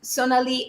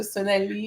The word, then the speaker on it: Sonalie: at the end exactly to make it more French. So Sonali is very appropriate. Um, the other way that people say it is obviously the more kind of Indian way, and sometimes with different pronunciations.